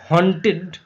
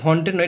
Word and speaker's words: haunted: হন্টেড, HUNTED, হন্টেড নয়, এটা হান্টেড উচ্চারণ, হান্টেড, হান্টেড দ্য সেকেন্ড